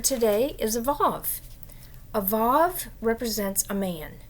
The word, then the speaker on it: vav: It has the pronunciation of v, like vav, but it also can